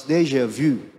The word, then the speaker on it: déjà vu: It's supposed to be pronounced as déjà vu.